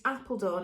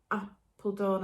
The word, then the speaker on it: Apeldoorn: It's Appledorn, it's not Appledorn as in English Appledorn, it's as in a type of tulip, which is, and it's spelt Apeldoorn, not Appledorn, you know what I mean.